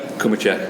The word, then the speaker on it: Cumicek: I've got Mark Cumicek with me. Am I pronouncing that right? Cumicek, you got it.